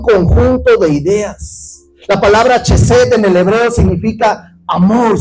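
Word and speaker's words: חֶסֶד: Hay una palabra hebrea, se pronuncia chesed.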